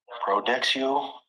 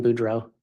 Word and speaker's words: Boudreau: Detective, you recently testified about finding a large amount of credit cards for Brandon Boudreau. Yes. I believe there you may have mispronounced his name.